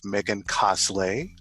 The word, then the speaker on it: Megancosslay: I'm here with Megancosslay. Did I pronounce that correctly? It's hmm cosplay without the P.